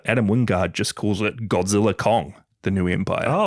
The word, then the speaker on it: Godzilla x Kong: Wingard just calls it Godzilla Kong the New Empire. Oh, the X is silent apparently.